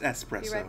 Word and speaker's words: espresso: It's pronounced espresso, you fucking Philistine.